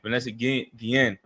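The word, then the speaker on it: Vanessa Guillén: Yeah, Vanessa Guen, that sister right there following the military, too.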